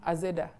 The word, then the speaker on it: Azeda: So being in the western part of the country, AZ became Azeda. Because Z is like Zeda. Zeda, Azeda, Azeda. You can't say just Zed, Zed.